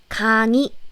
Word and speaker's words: 강의: It's not 의 since it's in the middle. So it's 강의, 강의. But again, it's acceptable to say 강의, 강의. 강의 is totally okay. But native Korean people say it like 강의, 이 more commonly because it's easier to pronounce it.